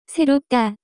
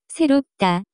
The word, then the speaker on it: 새롭다: The pronunciation of this word is closer to 새롭다, 새롭다.